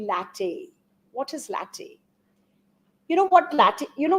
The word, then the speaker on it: LaTeX: is the latte it's it's spelled as latex but it's actually latte what is latte you